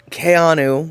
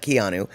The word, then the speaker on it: Keanu: So, basically what she's saying is she had no idea um that Kayanu, which is how you say it, not Keanu.